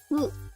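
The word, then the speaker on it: ふ: you have F okay who it's uh supposedly it's pronounced a bit like who like a h that's near a f like okay but we'll just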